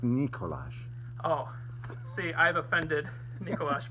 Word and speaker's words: Nikola: And Nikola Jokic.